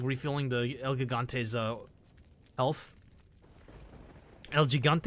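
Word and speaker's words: El Gigante: Elgigante, is it pronounced? Elgigante.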